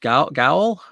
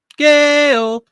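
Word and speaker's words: gaol: it's all luck oh it's pronounced jail okay gotcha so G is J eyul only in Canada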